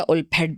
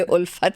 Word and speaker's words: Ulphat: तो फिर मुझे ख्याल आया कि नहीं, ये उल्फेट नहीं है, Yeah. ये उल्फत है, बच्चों की उल्फत है। उर्दू में उल्फत है, इंग्लिश में इसकी स्पेलिंग डिफरेंट है।